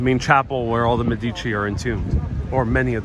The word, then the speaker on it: Medici: who knows so svl says once again it's pronounced medici how how do you say that e i